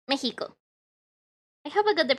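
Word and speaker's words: México: it so so yeah we mexicans have a little bit of weird pronunciation with the ex i told you about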